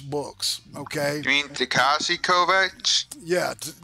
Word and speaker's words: Kovacs: Okay, You mean Takashi Kovacs? yeah, Takashi Kovacs or Kovacs is the I think that's the Slavic pronunciation of it. I think it may be Bosnian, or Serbian, something like that.